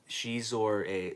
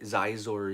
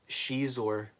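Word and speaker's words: Xizor: Or it's from the time that I corrected him on his Shadows of the Empire video, because he kept calling Shizor Zizor Zizor.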